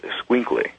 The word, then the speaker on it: escuincle: And the pronunciation of that is called escuincle.